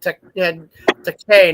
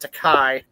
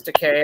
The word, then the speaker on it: Takei: That his name is actually pronounced Takei, not Takai. I always thought Takai, but It's Takei.